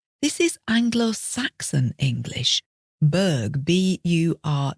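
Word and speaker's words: borough: similar and comes from this is Bur b o r o u g h bur so that the o u g h is just an uh sound and there are lots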